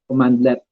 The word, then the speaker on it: cmdlet: So mag-pronounce ka mo, it's commandlet or CMDlet.